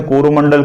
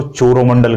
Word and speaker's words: कोरोमंडल: कोरोमंडल तट, अंग्रेजों से कोरोमंडल कहते नहीं बनता था, इसलिए वो इसको चोरोमंडल कहते थे। क्या कहते थे? चोरोमंडल। जैसे टमाटर को वो थमोथर कहते हैं, है ना। तो उच्चारण में, प्रोनाउंसिएशन में थोड़ा सा अंतर रहता है, इसलिए कोरोमंडल या चोरोमंडल